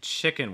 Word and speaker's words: chicken: pronounce that okay so again short i sound chis it's not cheek it's not cheek gang it's chicken chicken so it's not chicken